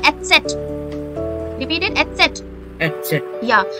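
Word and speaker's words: Eszett: Beta sign called Etzet.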